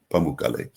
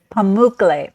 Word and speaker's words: Pamukkale: We pick you up, we take you to Pamukkale.